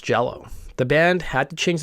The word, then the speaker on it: Jellÿ: Green Jellÿ, insisting that the umlaut over the Y meant it was still pronounced Jello.